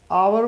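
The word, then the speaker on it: hour: से हम लिखते हैं और अवर में ह साइलेंट होता है तो आप अवर लिखते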